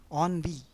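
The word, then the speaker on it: ennui: through a bloodless coup on v e n n UI most of the words starting with en are pronounced as on onv means boredom the class was filled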